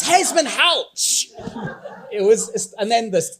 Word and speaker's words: Hesmondhalgh: Like everyone on the edge of the David Hesman out the gasps when they hear his name pronounced correctly. OH, IT'S HEZMAN HOUCH.